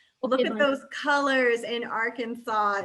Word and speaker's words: Arkansas: Arkansas is correct. Arkansas is 100%. You do not pronounce it Arkansas, okay? Don't let your brother tease you. Don't let him filter your brain with the wrong information. It is Arkansas.